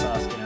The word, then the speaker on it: Sasuke: I know his name is pronounced Sasuke, I'm just trying to piss Naruto fans off.